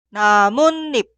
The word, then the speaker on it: 나뭇잎: Escuchamos la pronunciación 나뭇잎, 나뭇잎.